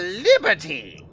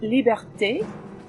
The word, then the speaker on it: liberté: Mademoiselle Liberty! It's pronounced liberté, and it's madame.